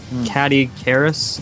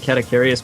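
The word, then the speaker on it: Caddicarus: Yeah, I'm also a huge fan of like Boogie298, JonTron, Catty Karis, I think that's how you pronounce it. I always pronounce it Catacarius, but I don't think there's an I at the end, so yeah, Catacarius is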